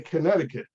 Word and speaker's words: Connecticut: Okay, but we don't say connect. I can't even say Connecticut. Connecticut. We say Connecticut. The C is silent.